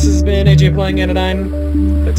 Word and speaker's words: Anodyne: anyways uh this has been AJ playing in a nine that's how you pronounce it and part two uh if you